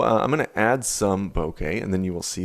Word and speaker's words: bokeh: right here in exposure i said boca for probably 10 years before someone corrected me that's actually pronounced bokeh bokeh is the visual